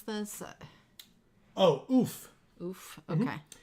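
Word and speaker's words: Ouphe: Oof? Okay. Mm-hmm. I used to call them oofe, and I've since learned that I'm wrong. So they're oof.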